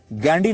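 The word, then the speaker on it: Ghandy: अंग्रेजी में वो गांधी नहीं गैंडी लिखते थे जिसकी स्पेलिंग है जी एच ए एन डी वाई गैंडी।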